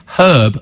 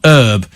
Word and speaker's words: herb: said Lisa says it's herb not herb because it's got an H in it yes the Americans call